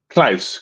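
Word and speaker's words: Klaus: Uh keyboardist Nikki Hopkins, basist Claus Vorman, I hope I pronounced that correctly. Clman. Yes, Claus. Yes. Close. How do you say that? Simon Close.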